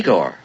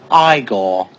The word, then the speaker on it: Igor: Feldman home what home hello you must be eigor now it's pronounced aore but they told me it was eagor well they were wrong then weren't they ain't